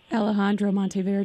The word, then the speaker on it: Alejandro Monteverde: Alejandro Monteverde.